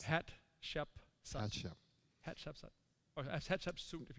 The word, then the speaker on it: Hatshepsut: mother of Moses, and how do you pronounce it? It's Hatshepsut.